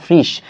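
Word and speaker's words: Frisch: এখন বইয়ের মধ্যে এই যে ফ্রিশ না বলে অনেকে ফ্রেশ বলে, কি বলে, ফ্রেশ বলে, তার মানে বিদেশি নাম তো যে যেভাবে উচ্চারণ করে, যেমন ক্রিকেট প্লেয়ার বলো, ফুটবল প্লেয়ার বলো, তাদের নামগুলো যেভাবে যেভাবে উচ্চারণ করে, তাহলে র্যাগনার ফ্রিশ বলো, র্যাগনার ফ্রেশ বলো, একই কথা।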